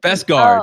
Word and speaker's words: Beskar: Is it with a V or a B? Beskar? B-E. I think. Is it Beskar or Beskar? I think it's Beskar. That's how they pronounce it.